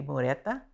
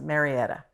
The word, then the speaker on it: Marietta: and I had students, I remember their name would be Mureta, but they would come in and say that I was pronouncing it incorrectly. Their name is Marietta, no A, So I would try